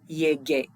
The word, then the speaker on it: llegué: And so we want to maintain that hard g sound, so yo llegué.